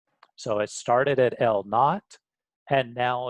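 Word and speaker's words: L₀: a known distance apart, L naught. So I pronounce this here is pronounced as L naught, and it's also known as a gauge.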